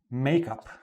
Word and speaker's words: make up: First, notice the different stress. Make up. The stress is on the make. Make up. The stress is on the up.